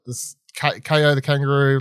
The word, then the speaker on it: Kao: You know, it's like this Kao The Kangaroo, like pronounced K-O, but spelled K-A-O.